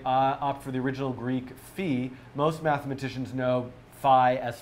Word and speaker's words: phi: who who whoa F the letter Fe is always pronounced Fe in Greek and it does not differ if followed by a vowel or consonant so there you have